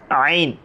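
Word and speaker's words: ع: হু এরপর আসি আমরা আইন আইন আইন আইন আমরা যখন বলবো তখন হলকের মাঝখান থেকে একটু চিপে বলব পড়াটা একটু চিপে যদি বলি আমাদের আইনটা সঠিকভাবে উচ্চারণ হবে কিভাবে বলব আইন আইন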